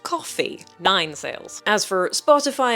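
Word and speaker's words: Ko-fi: I want to pronounce it Kofi like Hi-Fi, but apparently it's pronounced coffee.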